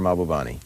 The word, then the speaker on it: Mahbubani: You talk a lot in here about a man named, this may not be the correct pronunciation, Mahbubani? Yeah, Kishore Mahbubani.